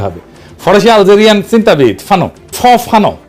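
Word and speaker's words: Fanon: ফানো আসল উচ্চারণটা।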